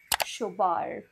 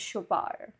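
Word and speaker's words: Chopard: बट it's wish from शोबार द D silent शोबार okay now this is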